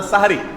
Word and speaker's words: সাহুর: শব্দটা হবে হয় সাহুর আর না সাহারি। হয় বলবেন সাহুর, আর সাহুর বলতে যদি কষ্ট হয় দরকার নাই, তাহলে সেহরি না বলে সাহারি বলুন, দন্তের উপরে আকার দিয়ে দেন, বাস হয়ে গেল।